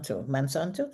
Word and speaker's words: Monsanto: read this so the slide you just showed Mansanto is that is that how it's pronounced yes okay they are the manufacturers of Lysol Here I go back.